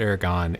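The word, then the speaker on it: Aragón: I believe that's how you pronounce it, Aragon in Spain.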